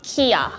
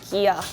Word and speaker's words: Kia: So, I think that most countries says Kia, not Kia. But in Korea is Gia, not Kia. So is it Korean G? Yeah. Yeah. You also don't say Gia, right? So you say Yeah, exactly. It's just a softer K to us in English.